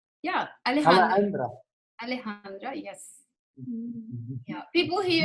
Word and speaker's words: Alejandra: Am I pronouncing your name correct? Yeah, Alejandra.